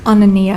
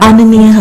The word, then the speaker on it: Anania: Next, Katie Anania. Did I pronounce that correctly? It's Anania. Anania.